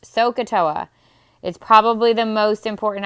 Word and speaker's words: SOHCAHTOA: if you look at this word and just pronounced sohcahtoa is probably the most important acronym you'll learn